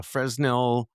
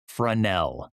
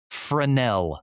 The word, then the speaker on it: Fresnel: It's fancy cuz it's French. No way. Is that true? Frenel. That's It is a Frenel lens instead of Frenel.